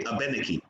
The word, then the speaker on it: Abenaki: That's kind of why on the US side, Abenakis will say Abenaki, and in the Quebec side, they say Abenaki. Because in Quebec they still speak French, so they use that French pronunciation of Abenaqua and say Abenaki.